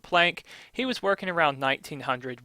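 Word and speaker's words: Planck: Maybe it should be pronounced plon, but I usually pronounce it plank.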